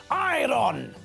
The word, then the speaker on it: iron: the word iron as iron this is wrong the word is spelled I are o n when we pronounce the word we don't pronounce the letter R when we say iron